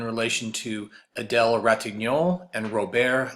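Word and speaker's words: Robert: to Adele Ratignolle and ro-bear Lebrun that's the way you would pronounce his name down in Louisiana ro-bear so this first passage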